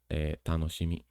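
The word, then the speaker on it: 楽しみ: Then there's this one, which is something fun or happiness, and is pronounced as tanoshimi.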